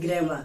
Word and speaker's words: grammar: तो हम इस आर को नहीं बोलते, इस आर को रा नहीं पढ़ाता, रा प्रोनाउंस नहीं किया। इसकी ज्यादा कहना चाहे तो आप लोग आ कह सकते हो।